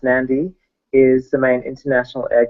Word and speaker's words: Nadi: is technically the mainland nandi or Nadi pronounced nandi is the main International